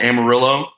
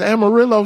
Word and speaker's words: Amarillo: Is Amarillo shitty like that? Let's just say it's not culturally diverse. Damn, you would think a town that kind of rhymes with armadillo would be all right.